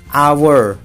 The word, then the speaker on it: hour: Misalkan hour, an hour, 1 jam, bacanya kan a tuh, an hour, ya kan, an hour gitu kan.